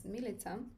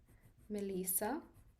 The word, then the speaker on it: Milica: like hearing my name, they're either pronouncing it as Melissa or Milika. There was like one person who pronounced it like. So I was like, that's a very actually it's a very cool name. But it's not how you actually pronounce it.